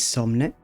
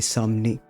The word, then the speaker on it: Somne: And yeah, well, first, my name is Somn, although I do believe everyone is going to call me Somni.